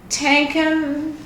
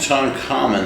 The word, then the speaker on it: Tutankhamun: Do you know how to pronounce it? No, I don't. Tutankhamun. Can you make an effort or stab at that? Tutankhamun, I believe is how it is.